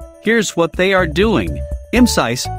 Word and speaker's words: Imcyse: what they are doing mcis pronounced MC's in English is a clinical Stage